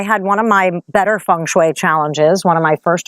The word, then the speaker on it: feng shui: thinking about what is Fung Shui or Feng shooey as the Americans say anyway you do you